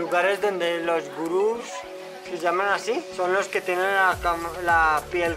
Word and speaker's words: Gurung: trekking these are the gurung people how is the famous gurung is pronounced termina en "ng" Gurung They are the local